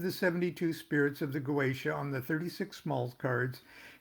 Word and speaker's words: Goetia: Next, the 72 spirits of the Goetia. Now, I pronounce it Goetia.